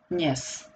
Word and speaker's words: dnes: D sounds very lightly because it's also very difficult to pronounce.